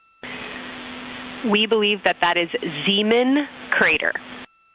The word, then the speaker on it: Zeeman: Integrity Science, we believe that's Zeeman crater. Hello, I floated away from you. Speaker, say it again, please. We believe that that is Zeeman crater. Zeeman, okay.